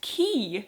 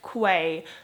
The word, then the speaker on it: quay: is called that and this word is pronounced key even though it looks like Quay so that was an